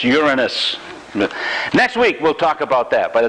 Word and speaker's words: Uranus: It's not, by the way, pronounced Uranus. It's Uranus.